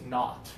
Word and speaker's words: knot: So same exact pronunciation, silent K.